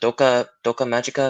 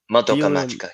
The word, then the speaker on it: Madoka Magica: just like talking about like um was it doka doka magika if i said it right madoka magica yeah yeah yeah because that the show like